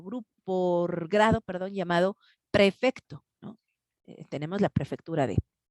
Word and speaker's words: prefecto: por grado, perdón, llamado prefecto, ¿no? Tenemos la prefectura de. Y entonces, perdón, yo he escuchado que tanto papás como los mismos chavos, los alumnos, no pronuncian prefecto, sino perfecto.